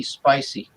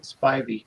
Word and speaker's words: Spivey: to call him Danny spicy he didn't he he he didn't oh he didn't pronounce people's names properly so Spivey spicy Danny spicy and Sid Vicious was